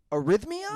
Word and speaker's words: arrhythmia: Now, is it pronounced heart arrhythmia?